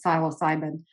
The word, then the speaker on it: psilocybin: And I'm talking, for the record, legal mushroom use, psilocybin or psilocybin. People pronounce it different ways. I pronounce it psilocybin.